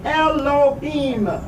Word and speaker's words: Elohim: various agendas deliberately masks profound truths about Elohim pronounced Elohim the God of the Bible they intentionally obscure